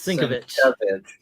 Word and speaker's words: Sienkiewicz: Is it Sienkiewicz or Sinkovich? It's Sinkovich. Sinkovich.